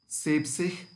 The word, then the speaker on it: siebzig: And we take the first four letters from sieben, S-I-E-B, sieb, and to that we add sich. Then it's pronounced as siebzig, 70.